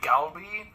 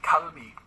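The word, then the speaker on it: 갈비: Because it's like technically the first letter is a G, so your inclination is to say galbi. But the G in Korean sometimes sounds like a K, so it's kalbi.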